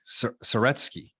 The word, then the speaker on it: Saretsky: Saretsky. How do I pronounce it? Boom. You nailed it.